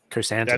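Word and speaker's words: Krrsantan: pronounce it? Chrysanthemum. Mm-hmm. Chrysanthemum.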